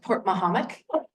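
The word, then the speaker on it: Portmahomack: This is pronounced Port Mahomet.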